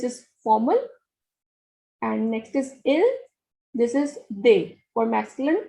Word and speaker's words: il: The pronunciation is il for he and elle for she.